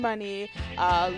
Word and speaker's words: Money: well you know what i like money because it's easy to spell it's easy to pronounce except when i go to the bank they call me mr mooney for all the people